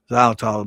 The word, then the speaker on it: xylitol: And it's spelled with an X instead of a Z, it sounds like I'm saying Z, xylitol, but it's X Y